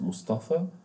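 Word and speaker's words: مصطفى: Like in Arabic, when we write Mustafa, we pronounce alif at the end, but we write it yeah.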